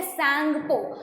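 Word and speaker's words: Tsangpo: तो उसको बोलते हैं सांगपो. तो सांगपो इज द नेम. अब तो मैंने आंसर बता दिया आपको. तो सांगपो बोलते हैं नेम जो है इसका, द ब्लैक, चलो टी इज साइलेंट.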